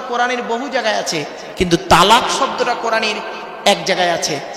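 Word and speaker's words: طلاق: বলে না শব্দটা কিন্তু তালাক নয় খবরদার এটা বলবেন না শব্দটা তালাক নয় শব্দটা হলো তলাক কি বললাম তলাক ওর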